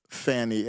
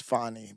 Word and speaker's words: Fani: I didn't know who Fanny I guess her the real pronunciation of her name is funny but we like Fanny